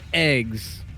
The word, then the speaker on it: eGGz: by the name of eggs emphasis on the gg Edge's how you pronounce it and spawning in the